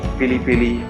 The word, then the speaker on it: pili-pili: There are different pronunciations: peri-peri, piri-piri, pili-pili.